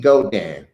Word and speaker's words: Geaux: So the name is spelled different, but it's actually Godan. Yeah, it's go. Go is GEAUX is go in French, which we say GO is the same thing in French. So we had to go